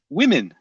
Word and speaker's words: women: they've all said women it's not woman it's women is that difficult but the point is still